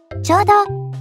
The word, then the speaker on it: 力: "Power" không được đọc là CHIKARA. Nó đọc "RYOKU".